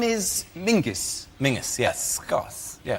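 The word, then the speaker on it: Menzies: His name is Mingus. Mingus. Yes. Goth. Yeah. Ming. Yeah. But it's pronounced it's it's spelled M E N Z I S.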